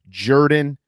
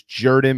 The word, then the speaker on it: Jordan: who don't understand that it's spelled jordan but pronounced jordan let me inform you it is jordan because shug jordan was the coach there that's